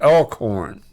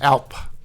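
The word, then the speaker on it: alphorn: the langes with their I always say this wrong the the elk horns El horn I told you I say it wrong and um with the El horns Alp alp yeah and then we have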